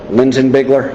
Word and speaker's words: Linsinbigler: Basically, just take me through from the very beginning contact you had with Daniel Linsinbigler. Is that how you say his name? Yes, sir. Okay, and just just kind of run me through, what happened with it.